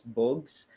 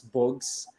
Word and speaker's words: Bugs: to everyone who's listening my name is boogs it's actually spelled as bugs but it's pronounced as books so kind of a twist there so yeah basically i